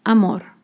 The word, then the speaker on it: amor: aguda sin tilde es la palabra amor amor se acentúa en la última sílaba pero no lleva tilde